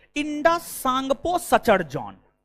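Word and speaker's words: Tsangpo: form होता है Indus सांगपो Sachar John T silent T silent है इंडस सांगपो सचर जॉन फिर बृहद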